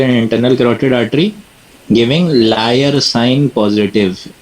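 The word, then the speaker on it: Lyre: There is स्प्लेइंग ऑफ the external and internal क्रॉटेड artery giving लयर sign positive. ये झूठा sign नहीं है। लयर। इसकी स्पेलिंग है एल वाई आर ई लायर sign positive नीचे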